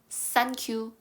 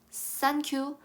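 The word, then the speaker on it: 3Q: 자 요거를 어떻게 읽냐 원래는 3과 9를 산지라고 읽지만이 여기에서 지어는 정말 구를 쓰고 싶어서 쓴게 아니라 와 비슷하게 생긴 숫자 아아 그래서 9를 쓴 거예요 그래서 우리 큐라고 읽어 주면 돼요 싼큐 산큐 땡큐와 비슷하게 고마워라는 중국어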